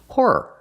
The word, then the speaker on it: horror: Whore. No. Horror. 2 syllables. Horror movies. Not horror movies. That sounds horrible. They're not movies about prostitutes. They're scary movies. Horror movies. Use 2 syllables for the second word.